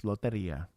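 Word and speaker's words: lotería: Yes, loteria.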